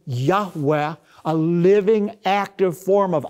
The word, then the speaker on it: Yahweh: God of Israel, which most Semitic scholars believe is pronounced a breathy Yahweh, a living, active form